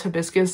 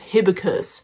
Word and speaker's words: hibiscus: She used to pronounce hibiscus as hibicus.